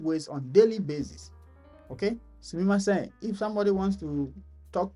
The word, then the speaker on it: sumimasen: Sumimasen. Sumimasen. Again, SU is pronounced S, like I said. S. See my mouth, not su.